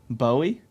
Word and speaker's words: Bowie: Buoy that his name buoy what's his last name of Hume or cume Hume buy that's him Bowie yeah but he pronounced it buoy yeah buoy cun